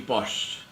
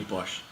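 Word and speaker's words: Pausch: there is a lecture by a professor Randy post I hope I'm pronouncing his name correctly p-a-u-s-c-h Randy Bosch now he's a professor of computer science and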